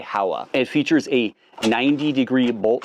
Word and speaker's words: Howa: made in Japan now it's pronounced HOA in Japan but when in Rome do as the Romans do I guess you could say so we're going to say Howa it features a 90°